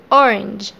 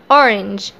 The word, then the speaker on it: orange: ليه ما قلناش orange؟ لأن الإي في الآخر ما بتتنطقش، بس بتأثر غالبا يعني في معظم الكلمات بتأثر في الحرف المتحرك اللي في النص وبتخليه يتنطق باسمه A. فهنقول orange.